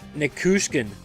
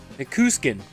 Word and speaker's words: Nichushkin: Yeah, Nikushkin. Nikuskin. That's what he kept saying.